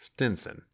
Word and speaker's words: Stevenson: of a widow of the name of stevenson which she pronounced stinson she had by her